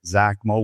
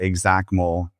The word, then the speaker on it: XACML: It's either XACML with a Z or XACML, like exactly.